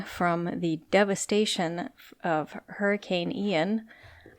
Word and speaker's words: Ian: the devastation of hurricane Ian I don't know why I kept pronouncing it iron that's not correct but anyway um hurricane